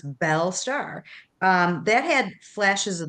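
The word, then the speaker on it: Belle Starr: I'm going to correct you, Mark, because your pronunciation on names sometimes isn't the best, but it's Belle Star, who was a very famous um, star in the 40s.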